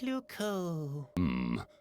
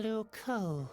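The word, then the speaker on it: Loucaux: Luco doesn't really rhyme with Bordeaux. It's spelled completely differently. Really? Luco is spelled L-O-U-C-A-U-X.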